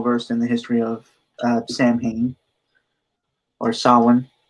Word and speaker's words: Samhain: Yeah, I unfortunately am not well versed in the history of Samhain or Samhain, right? Samhain is thought to be the more proper pronunciation, yes, because the Celtic spelling structure was